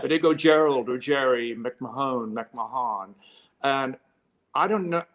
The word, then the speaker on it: Gerard McMahon: to a lot of people when they see gerard mcmahon on you know earlier records but i changed